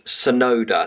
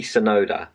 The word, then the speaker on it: Tsunoda: Yeah, that wasn't right at all. It's Tsunoda, so it's Yuki Tsunoda.